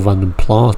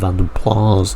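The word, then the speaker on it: Vanden Plas: time the Vanden players I usually call random plus personally but apparently I'm told you have to call that random plas now but there we go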